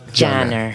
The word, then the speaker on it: Caner: not my name so this is the true pronunciation uh Jihad yeah ganner janner Jihad janer yes perfect yeah and H you were given